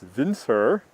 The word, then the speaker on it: Winter: myself I'm winter that's winter actually from the old country of Denmark where I was born it's pronounced Vince her I was born on